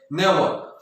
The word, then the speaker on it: never: नेवर। तो last में जो आर आता है वो भी क्या हो जाता है? स्लाइट ए बन जाता है, लगभग साइलेंट हो जाता है।